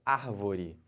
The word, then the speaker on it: árvore: é uma palavra paroxítona e a palavra proparoxítona é quando a antepenúltima sílaba tônica olha o exemplo árvore Então você conta aqui ó última penúltima anti-penúltima a última antepenúltima sílaba é a mais forte Então essa palavra chamada